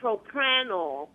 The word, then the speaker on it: propranolol: And I also take propranolol. Propranolol, am I pronouncing it right?